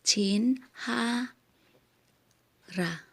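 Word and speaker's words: 친할아버지: So, ang pagkasulat, kung halimbawa, yung pag-pronounce lang, hindi yung sa pagsusulat talaga na chin 할아버지, yung pag-pronounce lang is chin ha ra.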